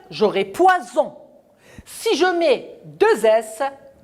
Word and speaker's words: poison: poisson a bu du poison regardez le s entre deux voyelles un seul ace une seule lettre la lettre s elle est entre les deux voyelles je prononce ce pouvoir